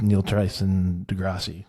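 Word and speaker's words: Neil deGrasse Tyson: And then I saw a podcast um with Neil Tricson Degrassi.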